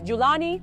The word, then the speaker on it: Jolani: The term meaning from Golan is pronounced differently in various Arabic dialects, as Julani or Jolani.